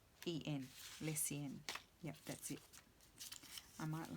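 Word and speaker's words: Lecien: So it's L-E-C-I-E-N, Lessien.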